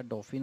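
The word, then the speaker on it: Dauphin: मला डुफॉ कडे पाठवा इथे आता डॉफिन असं उल्लेख स्पेलिंग आहे परंतु त्याचा उच्चार डुफॉ असा आहे हे लक्षात घ्या असू द्या आता जॉन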